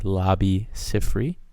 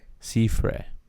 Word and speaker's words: Labi Siffre: Laughing, Loving, Lying by Lobby Ciffrey. Um, sir, sir, you pronounced it wrong. Lobby Cifrey. Lobby Caffrey. Caffrey. I' I've Googled it. It's lobby. Caffrey.